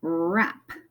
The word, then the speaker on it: wrap: And then we have a wrap. So again, we don't say the W. Remember, the W is silent.